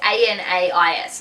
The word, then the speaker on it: Anais: I think it's Aden and Anais. It's Anais.